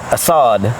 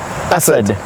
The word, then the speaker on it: Asad: Asad and Assad. Asad. Yeah. Khalid. Not Khalid and not Assad. Yeah. Asad.